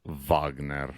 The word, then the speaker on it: Wagner: so it's pronounced Wagner I know I know I'm not gonna do